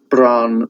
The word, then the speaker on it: Bran: The Welsh don't, when they pronounce their vowels, they don't diphthongize, which means they don't. When we say, like a word like me, a Welsh person would say me. There's just one sound there, but the English, they go me, bells, like that. My old primary school teacher